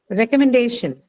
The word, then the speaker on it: recommendation: First syllable. Uh, recommendation.